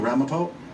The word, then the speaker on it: Ramapo: Ramapo.